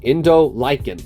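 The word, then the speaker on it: Indolycan: it is in July in the Lycan lichen okay Indo Lycan that's how you say its name because uh Indo like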